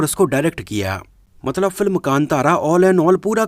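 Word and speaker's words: ಕಾಂತಾರ: Film का जो original title है, एक्चुअली उसको हिंदी रीजन में बहुत सारे लोग गलत प्रोनाउंस कर रहे हैं। बहुत सारे लोग इसको कांटारा बोल रहे हैं, कंटारा बोल रहे हैं और कई लोग इसको कंतारा बोल रहे हैं। लेकिन बेसिकली इसका जो सही प्रोनाउंसिएशन है वो कांतारा है, जो कि कन्नड़ा भाषा का एक शब्द है, जिसका कन्नड़ा भाषा में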